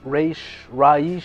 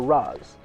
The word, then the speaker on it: Ra's al Ghul: Some people call him Raish, or Raz. I generally say Raz because that's how I first learned it, but I don't know.